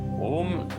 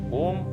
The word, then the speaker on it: ओम: आराम से हो और शुरुआत आ से हो ओम उ से नहीं होता आ उ ऐसे इसका उच्चारण होता है तो हम इसको कर